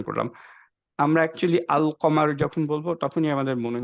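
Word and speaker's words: القمر: উচ্চারণ করলাম আমরা একচুয়ালি আল কমার যখন বলবো তখনই আমাদের মনে হয়ে যাবে আচ্ছা কমার ইজ দিস যে আলটা প্রপারলি উচ্চারণ হচ্ছে আকমার কিন্তু আমরা বলি না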